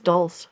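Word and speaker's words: dulse: Rhymes with pulse. Yeah. So, it's dul.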